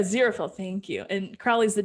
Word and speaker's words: Aziraphale: Aziraphale.